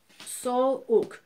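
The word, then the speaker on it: soğuk: So here, because we've got a vowel before and after, we're extending the vowel, so therefore the G becomes silent. So sok, sok, we don't have to pronounce the G.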